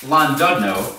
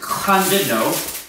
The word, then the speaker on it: Llandudno: Fans and a place called, we called it Llandudno. Apparently that's wrong. It's actually pronounced Llandudno.